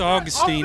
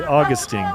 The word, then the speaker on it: Augustine: so we mess and it's probably me messing you up but it's Augustine it doesn't look like that um great play I think he likes to be it pronounced to be Augustine yes he told us on